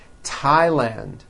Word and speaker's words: Thailand: spelled with a th they are pronounced as if they were spelled with a normal t t like that and these words are Thomas Thompson Teresa Thailand temps like the river